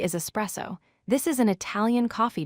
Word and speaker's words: espresso: Word 3 is espresso. This is an Italian coffee drink. The correct pronunciation is ESPRESSO. Do not say ex-presso with an X sound.